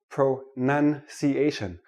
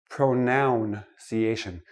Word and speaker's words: pronunciation: start with this word pro none see asian not pronoun CA shin it is not a pronoun a pronoun is I